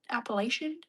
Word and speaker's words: Appalachian: Appalachian?